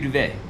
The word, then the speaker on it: duvet: just give you a duvet. Yeah. Am I saying that right? Yeah. Okay. Yeah, you Just get a duvet. Duvet. rhymes with bidet.